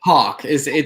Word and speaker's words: Haack: Haack.